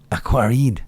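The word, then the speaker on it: Aquariid: Aquaride. At the end. It's silent as well. Well, okay, so it's spelled aqua, R-I-I-D. Aquarid.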